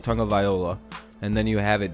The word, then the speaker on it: Tagovailoa: I've heard it's described like tongue and then viola. Like you're supposed to kind of say it fast, like Tagovailoa, and then you have it down.